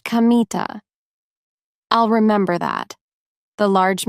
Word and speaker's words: Kamita: "It's written with the characters for God, Kami, and field, God's field. But it isn't pronounced Kanda as you might expect. It's pronounced Kamita."